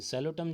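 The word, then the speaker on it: Psilotum: ये सेलोटम जो है ना इसमें पी साइलेंट है, तो इसको आप ध्यान रखना थोड़ा सा।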